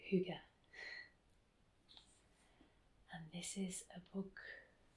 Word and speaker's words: hygge: g g e the danes always pronounce ease at the end of words which is why it sounds like hygge and this is a